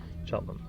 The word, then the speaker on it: Cheltenham: Cheltenham. Cheltenham. There you go. 2 syllables. Cheltenham.